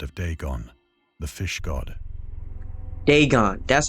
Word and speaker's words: Dagon: ancient Philistine legend of deeon the fish God deeon that's how you say it okay oh boy